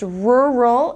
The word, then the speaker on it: rural: in the area okay this one is difficult for some people because of the the two R's were a roll okay it's pronounced true a roll and it means of